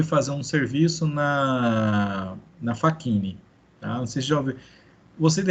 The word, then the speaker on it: Facchini: é ele foi fazer um serviço na na fakini tá você jovem você de repente não ouviu falar na fakini mas vocês conhecem a fakini pelo menos de